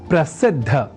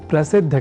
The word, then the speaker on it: प्रसिद्ध: समझकर या न लिखकर हम प्रसिद्ध अर्थात द और बाद में ध इस अक्षर विन्यास से युक्त शब्द प्रसिद्ध का ही लेखन और तदनुसार शुद्ध उच्चारण करेंगे।